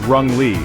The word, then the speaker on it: wrongly: Wrongly is pronounced as rung-ly and it means in a mistaken way.